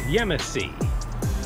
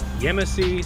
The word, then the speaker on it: Yemassee: to the rig and correct pronunciation for the location is yemassee yemassee South Carolina right see you guys